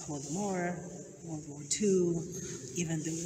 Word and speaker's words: Holodomor: How do you guys pronounce Holodomor? Holodomor.